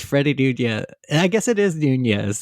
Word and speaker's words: Nunez: one and only Freddie Nunez. Freddie Nunez. Did I say your last name right? Yeah, you said it right. I always want to add a new to it, like Nunez, but it's just Nunez.